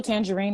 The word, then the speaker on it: Tanjareen: the show um official tangerine is my name on facebook and instagram tangerine is not spelled like the fruit it's spelled t-a-n-j-a-r-e-e-n like